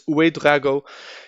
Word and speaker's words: Uwe Drago: Then Gustav Isaacson as a shadow striker, but Uwe Drago, I've been pronouncing it wrong the whole time, but it's Uwe Drago.